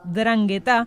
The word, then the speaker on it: 'Ndrangheta: Sí, lleva una N al principio, pero no se pronuncia, es 'Ndrangheta.